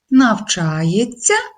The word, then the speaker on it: навчається: тьц наприклад навчається думають зверніть увагу вимовляємо навчається пишемо навчаєтьсяся це є орфоепічною нормою який знак